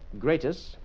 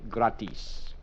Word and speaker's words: gratis: In English we say uh greatest or sometimes gratus and in Spanish we say gratis. Gratis.